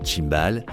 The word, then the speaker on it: Simbal: La reine Simbale Banda, la fondatrice. Une femme commerçante très dynamique du nom de Simbal prononcé Chimbal, Banda chefferie et